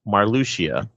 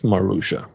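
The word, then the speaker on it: Marluxia: remake we all learn it's pronounced marlucia yes marusha the only thing that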